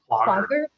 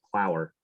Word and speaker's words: Plogger: Plogger. I'll I email never you. knew that's how you said that. I always thought it was Plower. Yeah, he had to correct us. It has a hard G.